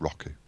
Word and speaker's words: Roku: show you rocking withu I mispronounce it every time he actually supposed to say Roku I can't I can't bring myself to say Roku it's Roku okay we're going to